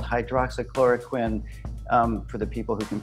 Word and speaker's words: hydroxychloroquine: hydro hydro clock Sakura Quinn it's pronounced hydroxychloroquine I should write it out welcome to punchlines